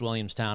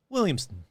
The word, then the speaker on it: Williamstown: sure it's not pronounced williamstown i'm sure it's pronounced like williamson now the young men